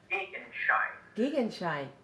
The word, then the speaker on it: Gegenschein: How do you pronounce it again? Gegenschein.